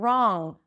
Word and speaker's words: wrong: Ron, the name Ron, R O N, Ron, and wrong. Wrong. It's a wrong I It's the wrong idea. Wrong. I bring the back of the tongue up and that's the NG.